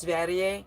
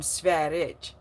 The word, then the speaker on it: Sverige: His name is is it's Sweden in Swedish which is Sverige, but people didn't know that it's pronounced Sverige. So, they they would call him Sverege or Sverege.